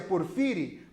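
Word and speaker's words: Porfiry: por conta da personagem para Fire que a gente pronuncia porphyry para filha e petrov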